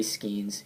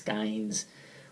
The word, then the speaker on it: Skeens: There's a friend of mine named Joey Skeens who for the life of me, I would pronounce Skynes, which would bother him.